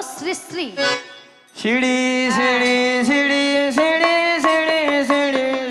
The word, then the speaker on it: শ্রী শ্রী: আরে মাসি ওনার নাম ছিরি ছিরি নয়, হ্যাঁ। বলো শ্রী শ্রী।